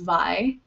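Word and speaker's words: Vahe: So I believe it's pronounced Vi. It's V-A-H-E.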